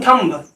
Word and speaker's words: thumb: थम, THUMB, थम। अब हम लोग बहुत गलती करते हैं, देखो अक्सर हम लोग थम थम थम बोलते हैं, एवरीबडी कॉल्स थम, लेकिन ये थंब नहीं है, यह थम, NUMB।